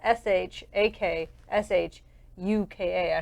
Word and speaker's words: shakshuka: to be basically a green now this word is spelled Sh a K sh u K a a shakshuka uh-huh so now typically if you